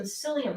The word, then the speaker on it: psyllium: I'm going to add some psyllium husk. Now, psyllium husk, spelled with a P, not a S.